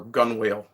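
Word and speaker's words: gunwale: side of the boat at the gun or gun wheel if you're someone who pronounces things as they're spelled um but the original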